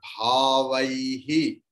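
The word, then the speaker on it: भावैः: So, after bhavai, you please split and put visarga.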